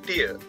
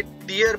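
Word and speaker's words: tear: Next word is टीयर, टी ई ए आर। जब आप इसे टीयर पढ़ते हैं तो आंखों से जो गिरने वाला द्रव पदार्थ है जिसे आंसू कहा जाता है तब आप इसे टीयर पढ़ेंगे, जबकि टी ई ए आर का दूसरा उच्चारण जब टेयर करते हैं तो इसका अर्थ होता है कोई चीज फाड़ना या उसे उधेड़ देना, रिप और लेसरेट।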